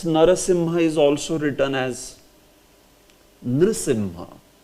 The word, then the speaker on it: Nrisimha: Nrisimha. Yes. Actually this should be pronounced as Nrisimha. Nrisimha. Nrisimha. Nrisimha. Not Narasimha. If it is Narasimha, then you say Narasimha.